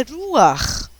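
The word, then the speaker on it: רוח: A mesma palavra em hebraico é ruach. Isso é um R, isso é um U, e esse você vai pronunciar como ar, tá?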